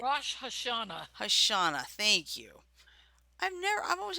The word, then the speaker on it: Rosh Hashanah: Am I pronouncing that right? Rosh Hashanah.